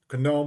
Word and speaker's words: GNOME: from 41 to 42 conome with a hard g since it's an acronym rdp is now available